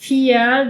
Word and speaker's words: vier: Pero la V corta en alemán a veces tiene sonido de F. Eh, muchas veces de hecho. Y que es como este ejemplo del Vier, del número cuatro que habíamos visto, de que que suena casi como Fear en inglés de miedo, ¿no? Como una F.